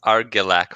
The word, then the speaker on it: Argilac: Well, I think I would pass through Morrill naturally to get to Argelac Farms. Sorry, I mispronounced it again, aren't I? Sorry, how's it said? It's Argilac Farms with a hard G. Argilac.